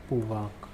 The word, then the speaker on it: pouvoir: Pronunciation is pouvoir.